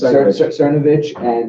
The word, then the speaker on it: Cernovich: Yes, Cernovich and Milo and Ann Coulter can even exist in this world, right?